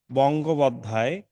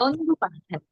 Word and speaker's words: বন্দ্যোপাধ্যায়: বঙ্গোপাধ্যায়, না না, বদ, বন্দ্যোপাধ্যায়।